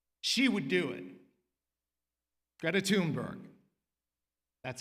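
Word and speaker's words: Thunberg: Greta Tunberg, that's how she pronounces it, began sitting outside her nation's parliament with a handmade sign that said, "School strike for climate."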